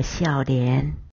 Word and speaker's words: 少年: 少年念作笑脸。